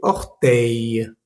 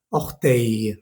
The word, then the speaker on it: orteil: Algunos ejemplos es, por ejemplo, despertador, réveil, o pulgar, se dice orteil. No pronuncies esas L's al final, ¿vale? Réveil, orteil. No se dice réveil ni orteil. La L no se pronuncia.